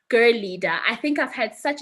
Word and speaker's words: Girleada: yes it's spelled Girl leader but it's actually pronounced Girl leader I think I've had such an interesting encounter with listening to the different pronunciations that people have for this organization but it's Girl leader it's said Girl leader but it's spelled Girl